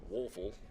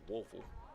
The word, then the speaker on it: Woeful: he'll be relieved by one Josh wolfel or spelled w-o-e-f-u-l Josh wolfel for me until somebody corrects us yeah we did get the pronunciations in there yeah I checked on it just to make sure that that was a correct pronunciation a couple of different